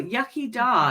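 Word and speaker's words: iechyd da: is the mammoth cheese oh yucky da is how it's pronounced where is the word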